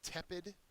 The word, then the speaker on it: tepid: the last word is tepid that is an adjective the first syllable is accented it means lukew or